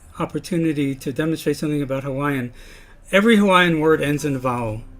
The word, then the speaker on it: Hawaii: of the vowels and some people pronounce it I where you kind of articulate both vowels but you're blending them together more and this is really